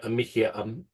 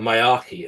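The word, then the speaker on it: Miyake: Now, obviously, we haven't had anything really severe like a Mickey, hang on, I've got to pronounce this right, a Mayaki event.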